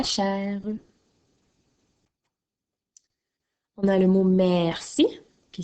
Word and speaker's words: merci: On a le mot merci qui s'écrit M-E-R-C-I. Alors, n'oublie pas que dans le mot merci, le son que tu entends s'écrit avec un C.